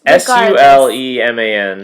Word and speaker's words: Suleiman: I thought it was like Solomon, but with a U. It's Suleman.